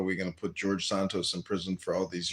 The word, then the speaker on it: Santos: George, what what Sarrentos? Is that how you say his name? Santos.